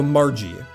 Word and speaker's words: Margie: So, Margie Mar as in Marge sounds like a J. Okay. Yeah. Soft soft G.